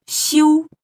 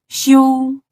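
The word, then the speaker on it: 休: Well, the sound is sh, I, u, xiu, and it goes like the first tone. It's called xiu, xiu.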